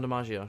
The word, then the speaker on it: DiMaggio: John DiMaggio? Is that how you pronounce his name? Oh yeah, John DiMaggio.